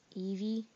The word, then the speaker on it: Evi: So, what it is it's called Eevee. It's spelled E-V-I to get it.